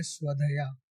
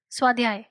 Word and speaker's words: स्वाध्याय: सो योगा, जैसे जब मैं रिसर्च कर रहा था तो योगा में एक ऐसा टर्म है स्वधया. स्वधया बराबर मैंने प्रोनाउंस किया? स्वधया, स्वाध्याय, स्वाध्याय, स्वाध्याय.